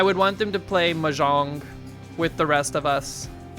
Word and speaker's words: Mahjong: Mahjong, Mahjong.